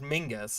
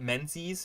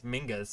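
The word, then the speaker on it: Menzies: but um you know because people talk about Mingus and that's how you pronounce that name by the way uh um balthazar's half-brother it's not mentis as Mingus apparently how you pronounce pronounce that I don't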